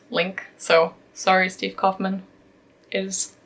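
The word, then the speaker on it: LingQ: week abut then I found out that is pronounced link so sorry Steve Kaufman is linked I can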